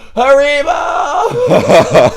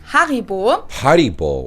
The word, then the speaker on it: Haribo: haribol that's so weird it's like a different emphasis on different syllables we say haribo haribo but they say haribo so their emphasis is on the odd and our emphasis is on the e haribo haribo but it's